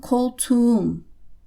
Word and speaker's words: koltuğum: So it would become koltuğum. That K has become a soft G unpronounced.